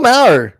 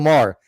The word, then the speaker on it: Maher: Um, once one secounder, Bill Mau, Bill Maher, sorry, Bill Mau, I don't know why I pronounced his name, but Bill Mau Maher.